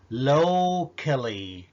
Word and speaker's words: locally: بص على الكلمة دي locally، locally ما أقدرش أقول locally.